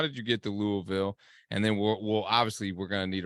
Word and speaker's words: Louisville: did you get to Louisville? And then we're gonna need a Rick Pitino recruiting story. Yeah, so I gotta correct you. It's Louisville. You gotta say it like with your mouth full of food, man.